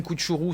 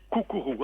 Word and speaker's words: Cuccuru: c'était qui ce jeune Koutchourou ? C'était un enfant pauvre, c'était un enfant turbulent qui s'est arraché de sa condition ? On dit Koukourou, hein, c'est difficile à prononcer, je sais bien.